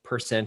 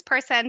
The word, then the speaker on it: PerCen: capital c so it's person Technologies basically it can be pronounced person but it's person centered okay so it it